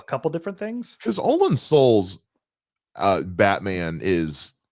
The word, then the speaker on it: Soule: So Olin Soul, I think is how you say his name, or Soule, depending on which way.